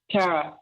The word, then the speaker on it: Tarah: Matt Pelcher, and also the leader of the band, Tarah G. And or better known as Tarah. And my wife wanted to verify, is it Tarah or Tarah? Tarah. Okay, so Tarah.